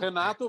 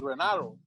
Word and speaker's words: Renato: in Portuguese it's Renato, but in English it's Renato.